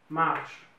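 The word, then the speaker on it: marchent: c'est marche e nt on ne prononce pas marche hm hm c'est bon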